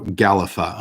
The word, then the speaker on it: Gællæffa: in the world of gelatin pronounced oh here we go galifa okay well i probably